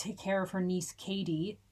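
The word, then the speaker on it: Cady: She's suddenly having to take care of her niece Katie, spelled C A D Y.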